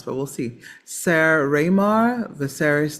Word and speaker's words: Viserys: Some that I don't know how to pronounce, but we'll see. Ser Raymar, Viserys Targaryen, Redhead, Sarah Roderick, Bran Stark, and doing some action and descriptions.